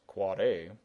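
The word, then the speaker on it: AAAA: which is an NS you've got your quad a yes pronounced quad a which is for your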